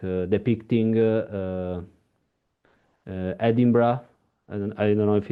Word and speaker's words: Edinburgh: Maybe because also it's like depicting Edinburgh. I don't know if it's the Yeah. right pronunciation.